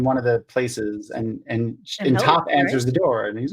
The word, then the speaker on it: Toph: One of my favorite scenes early on, mid second season, was with the uncle meeting up with Toph. I always think I'm saying her name wrong.